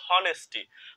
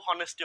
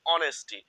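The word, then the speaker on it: honesty: দেখো অনেকে কিন্তু এই বানানটা পড়ে হনেস্টি। প্রকৃতপক্ষে এটা কিন্তু অনেস্টি হবে না। এটার সঠিক উচ্চারণ হচ্ছে অনেস্টি। ঠিক আছে? এই এইচটা এখানে উচ্চারিত হয় না।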